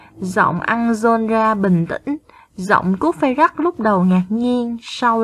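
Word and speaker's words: Cuốc-phây-rắc: Garrot, Anjolra, Cuốc Phây Rắc.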